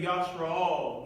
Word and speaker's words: Yashra'al: When you hear, because we have visitors today, when we say Yashra'al, we're saying Israel. That's the Hebrew pronunciation.